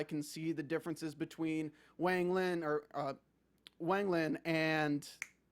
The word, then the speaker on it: Wang Lin: see the differences between Wang Lin and Meng Hao. Is that how I pronounce it? Cool. Yeah. Great. I'm still you got the still first getting one, there. Wang Lin, but close enough. Wang Lin and Meng Hao.